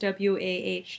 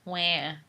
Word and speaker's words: WAH: We're at Dawson Cries, WAH Dawson Cries. It's pronounced wah. I say wah.